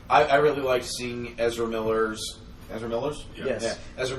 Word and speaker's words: Ezra Miller: Ezra Ezra Miller.